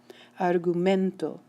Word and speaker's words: argumento: Argumento, argumento. The word ends in an O. It should be stressed right here, and it is.